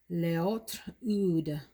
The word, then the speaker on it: L'Autre Oud: oomph to it and i am going with leotr ud from maison lancome now let me be honest